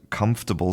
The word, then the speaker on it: comfortable: speaker says that word, the m the m at the beginning doesn't sound like an m. It's not an m. It becomes an n, a nasal n, the n that comes out of your nose.